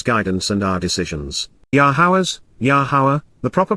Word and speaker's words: Yahowah: made between his guidance and our decisions yahawah's yahawah the proper pronunciation of the name of iloa God has